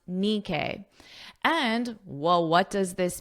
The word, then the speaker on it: Nikkei: I listened to the pronunciation and now I know it's pronounced Nikkei.